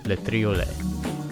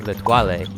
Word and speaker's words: Le Triolet: and we are climbing Le Triolet, this beautiful golden ribbon of ice right here. I spent the first half of this trip pronouncing it Le Toilet, simultaneously thinking that that